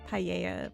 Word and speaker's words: paella: Still not sure if I'm pronouncing llama and paella correctly, though. Yeah, I pronounce llama with a L and paella with a Y. Depends on which country.